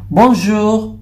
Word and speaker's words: bonjour: So, ang correct pronunciation niya ay bonjour, bonjour. Yung R po niya ay medyo konti lang yung sound na lumalabas.